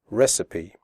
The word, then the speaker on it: recipe: in the speaking test make sure you pronounce the word recipe correctly the ending cipe is pronounced sapi recipe okay so let's get